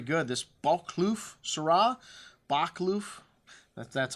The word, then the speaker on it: Boschkloof: them they'll very good this bulk kloof sera bak loof that's how you say it and this from